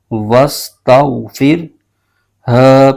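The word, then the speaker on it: وَاسْتَغْفِرْهُ: ہا پر پیش ہے اور آگے وقف مطلق کی علامت ہے، یہاں وقف کریں گے تو اس صورت میں ہا کی پیش ختم ہو جائے گی اور یہ ساکن ہو جائے گا۔ اس کے ہجے یوں کریں گے، واو سین زبر وس، ت غائن زبر تو، وستو، فا را زیر فر، وستغفر، ہ پیش ہو، وستغفرہ، آگے وقف، وستغفر۔ اب اس آیت کو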